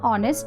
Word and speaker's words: honest: exceptions number one an honest man here although honest starts with a consonant h the word honest starts with a vowel sound where h is silent so here annie is